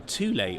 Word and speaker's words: Thule: So, on the front of your Omnistor, your Thule awning, that's the pronunciation.